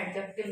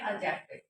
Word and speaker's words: adjective: अब बोल रहे होंगे मैम एडजेक्टिव बोल रही है, एडजेक्टिव नहीं बोल रही. तो आपको मैं बता दूं कि यहाँ पे जो हमारा डी है वो साइलेंट होता है, इसलिए हम यहाँ पे इसको बोलते हैं एडजेक्टिव, जिसको हम हिंदी में बोलते हैं विशेषण.